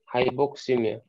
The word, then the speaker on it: hypoxemia: هايبوكسيميا هي هايبوكسيميا، بتتنطق عشان نضمها مع بعض تبقى هايبوكسيميا، بس هي مقاومة من 3 أجزاء، هايبو بوكس ويميا.